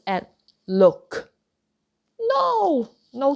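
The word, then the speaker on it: 六: You don't pronounce that k out, but sick, sick. Okay? And another word, look, look.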